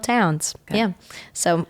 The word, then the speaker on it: Townes: And then Townes, like Townes Van Zandt.